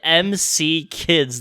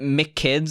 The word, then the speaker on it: M.C. Kids: are you supposed to come back we played mc kids the mcdonald's game for the